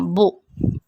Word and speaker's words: beaux: Pronunciation will remain as it is, beau, and in the plural form also we will say beau, that means handsome. Il est beau, ils sont beaux.